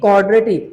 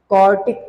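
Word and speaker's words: quartic: आई एम not saying क्वाड्रेटिक, आई am just saying क्वार्टिक। Spelling पे ध्यान देना, यहाँ पे डी है, यहाँ पे क्या है? टी।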